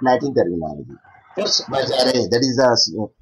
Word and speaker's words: force majeure: Force majeure, that is the pronunciation.